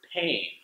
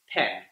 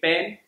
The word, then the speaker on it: pain: A good example is the word pain, which means to feel really hurt. A lot of Spanish speakers, when learning the word pain, they'll say it pen. Are you feeling pain?